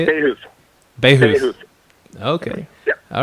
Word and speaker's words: Bahouth: Bahouth, is that how you say it? Bahouth.